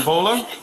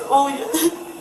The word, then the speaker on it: Olya: How do you say your first name? Volha? It's Olya. What is it?